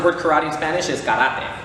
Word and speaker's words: karate: And the way you actually pronounce the word karate in Spanish is karate. So it has more of like an accent on the letters, so it'll be karate instead of karate.